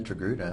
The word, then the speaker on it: Togruta: just say definitely the the most oftenly misspelled the mispronounced species it is very which is it is not Tortuga it's not or torgut it is not tortilla or or tortilla it